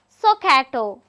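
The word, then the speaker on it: SOHCAHTOA: and T O A it is pronounced as soato if uh in this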